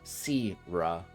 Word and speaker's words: Sierra: When the train starts moving again, the announcer lady announces voice announces that we are now entering the Sierra district, pronounced Sira.